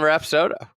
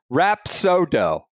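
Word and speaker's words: Rapsodo: should be using the rap soda. That's fair. Uh, I'm just going to go anchor man here. Notes to Andy and Brendan. Pronunciation. Rap sodo. Why would would it be anything else?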